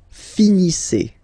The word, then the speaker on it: finissez: Vous finissez. Okay, a z at the end gives you the sound e.